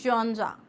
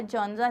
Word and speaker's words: genre: Now what is अ जॉनरा? Please understand this is a French word. इसका जो pronunciation है वो जेनरी या जॉनरा नहीं है, इट्स जॉनरा।